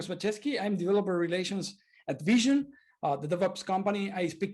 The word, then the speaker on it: VSHN: very good tip uh it's pronounced like vision like the eye hence the logo and we've been in